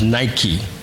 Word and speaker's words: Nike: And it's transliterated as in the letters Nike, pronounced in English as Nike, as in the sneaker company.